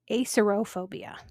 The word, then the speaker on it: acerophobia: This next one has two different pronunciations and spellings depending on what book you're looking at. Acerbophobia or acerophobia.